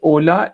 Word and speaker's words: hola: Second, when we say ola, h is silent. तो आपने होला बोला था, वो h silent होगा.